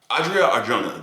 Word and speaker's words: Adria Arjona: Adria Arjona, that's how you say her name.